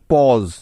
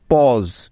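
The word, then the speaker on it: pause: এ ইউ একসাথে আছে শেষে আছে এস ই যার উচ্চারণ হবে জ সুতরাং প অ জ কি কি হলো পজ পজ শব্দটার বানান আমরা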